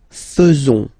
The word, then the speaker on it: faisons: So it's quite strange because French people tend to pronounce faisons. Okay? So like here, this AE is not pronounced like normally we should pronounce it like E, but then like okay?